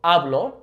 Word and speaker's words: hablo: does have an accent, make sure that you're properly pronouncing that O. You're really emphasizing the O. So hablo, meaning I speak, or habló, meaning he spoke or she spoke.